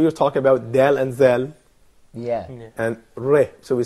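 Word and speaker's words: ذال: Well, when it comes to Zal, so you put the tip of the tongue between the upper and lower teeth.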